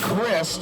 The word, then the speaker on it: Christ: The description that he left us is fantastic, which is the E is silent, and I'm not Jesus. So he is Chris, and now we know.